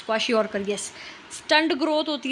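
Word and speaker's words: kwashiorkor: Deficiency diseases देखो, याद होने चाहिए ये, प्रोटीन, क्वाशिकॉर, ठीक है। प्रोनाउंसिएशन देख लेना, क्वाशियोरकर बोलते हैं, यस क्वाशियोरकर, यस।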